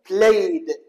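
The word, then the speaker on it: played: شلون نطقتها نطقتها د بلايد لكن على سبيل المثال توكت هذا التوك اذا اريد اضيف للا ايدي ما اقول توكد ولا اقول توكد وانما اقول توكت اذا الفظ وكانه تي شوف مرات الفظ ت مرات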